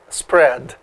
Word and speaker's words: spread: é os prédios bancário a pronúncia é o spred os prédios mas pode falar isso prédio tem problema não é importante que